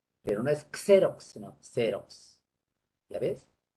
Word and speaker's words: Xerox: Se escribe con X, pero no es Xerox, sino Xerox. ¿Ya ves? Se escribe con S.